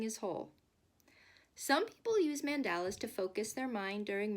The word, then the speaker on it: mandala: friends, today we are going to make a mandala, which some people pronounce mandala. The word mandala is a Sanskrit word meaning circle.